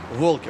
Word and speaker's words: Волки: Волки, понятно? Ударение на первое слово.